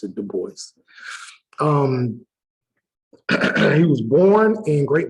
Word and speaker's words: Du Bois: Some people say Du Bois, but that's not how you pronounce it. You do pronounce it Du Bois.